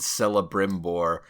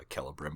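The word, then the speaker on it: Celebrimbor: friend in public when he said Cella Brimbore uh or something when he was talking about uh Shadow over Mordor. I'm like uh sorry it's Kellbimbo. Oh, good. I said it right. They're hard they're hard. Think Latin Kickaro.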